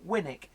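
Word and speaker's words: Winwick: Brits hey oh yeah like Winnick Winnick is win WIC and then wisbeach wisbeach is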